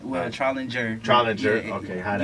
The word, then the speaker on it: Trollinger: Well, Trollinger. Trollinger. Yeah, okay. You pronounce it how it looks correctly, but my family just says it wrong probably.